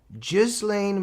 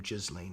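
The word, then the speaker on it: Ghislaine: Gizlane Maxwell, some say Gizlane. I think she even pronounces her own name Jizlane if I'm correct.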